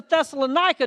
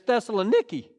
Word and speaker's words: Thessaloniki: then he gets to Thessalonica. Did y'all know that's not how they pronounce it over there? Back in 97, I got to go to Greece, and it's Thessaloniki.